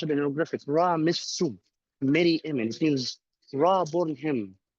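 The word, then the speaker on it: Ramesses Meryamun: birth name Sarah, and here is how it's pronounced in hieroglyphics: Ra Missu, Mary Amen.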